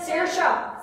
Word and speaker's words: Saoirse: I know the Saoirse.